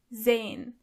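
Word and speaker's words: sein: verbreen to see is zane. Zane. As you can see, the letter S is not pronounced as S but more like Z. So you say zen zen.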